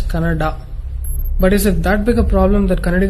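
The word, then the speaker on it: Kannada: where people were fighting whether it's caned or Canada people from North India should understand that it is pronounced as Canada but is it that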